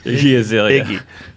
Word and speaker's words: Iggy Azalea: Iggy Azalea.